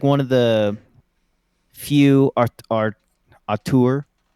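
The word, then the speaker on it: auteur: real he's like one of the few are a tour how do you pronounce it Ian that's correct uh a tour or craftsman of video games and because seeing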